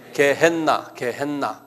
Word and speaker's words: 게헨나: 한번 발음을 크게 해보세요. 게헨나. N이 두 개예요. 그래서 게헨나 이렇게요.